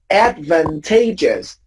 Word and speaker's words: advantageous: So you have advantage, yes, but advantageous is an adjective.